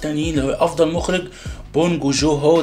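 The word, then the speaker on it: 봉준호: اللي هو افضل مخرج بونج جو هو، ده اعتقد ده اسم، ده النطق الصح، بونج جو جون هو ده المخرج.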